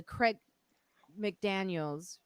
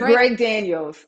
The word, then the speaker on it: Greg Daniels: Zainab Johnson, who is in the show Upload, the Craig McDaniels. Did I say it right? Greg. Greg, Greg Daniels.